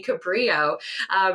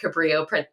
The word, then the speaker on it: Cabrillo: And for many years, people always thought that he was born in Portugal, and the pronunciation in Portuguese would have been a little bit different than in Spanish.